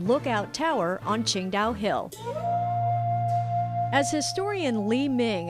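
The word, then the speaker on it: Tsingtao: While it's spelled differently, it's pronounced the same way the city is pronounced, Qingdao.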